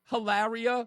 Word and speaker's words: Hilaria: I'm almost certain her name is Hillary, and she pronounces her name Hilaria, which I thought it was a joke.